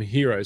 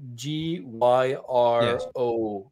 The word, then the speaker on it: gyros: that thing that's spelled G-Y-R-O-S, right? Yeah. So I don't know if it's gyros, if it's gyro, or hero, it's hero.